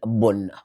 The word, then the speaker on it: bon: expliquer là l'illusion question nous écrit bon et puis nous prononcer bonne le faux féminin ou